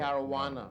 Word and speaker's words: Caruana: Caruana. Okay. Caruana. All right. That was my mistake in pronouncing it.